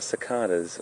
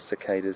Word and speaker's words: cicada: They are cicadas, or cicadas, some people pronounce it.